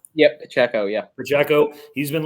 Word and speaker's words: Pacheco: it how do you say his last name Pacheco yep Pacheco yeah for Jacko he's been looking really good